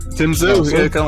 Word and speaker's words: Tim Tszyu: You got it right, Tim Tszyu.